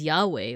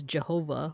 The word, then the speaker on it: Yahweh: Bibble it's YH wh so you could you could read it as Yahweh or you could read it as Jehovah or yehovah but also if you're